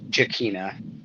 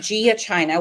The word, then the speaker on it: Giacchina: his last name yeah yeah that is jakina okay I said Gia China which is totally disgusting but anyway let's first